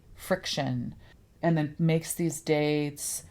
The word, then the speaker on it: Friktion: phone, she makes dates using this app called Friction. Friction with K. That's Yes. F R I K. Friction.